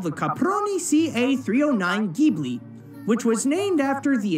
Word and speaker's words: Ghibli: but here's the thing in the original Italian word I is pronounced with a hard G being Ghibli but in technically it's